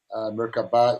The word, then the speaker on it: Merkaba: It's more of a Merkava is more the correct pronunciation. Merkaba is what people talk about.